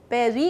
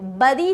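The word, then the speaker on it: bury: And last है, आप किसी को जब बेरी करते हो, बरी नहीं करते. प्लीज़ याद रखो, कभी भी आप बरी नहीं करोगे, आप करते हो बेरी. बेरी करोगे आप.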